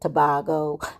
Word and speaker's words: Tobago: But it's tobago. It's a long a like we learn in school.